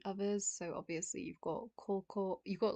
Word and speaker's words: 高校: it's just it's kanji, I guess, how it's kanji are pronounced. So we've got high or tall. Mm. We then have the second kanji you'll recognize from school up here, but it can also be pronounced ko. So I guess we just have koko.